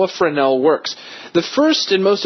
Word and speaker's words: Fresnel: to you how a friend L works the first and most important explanation for those of us who don't speak French is that it's actually spelled like Fresnel but don't say it that way now here's how it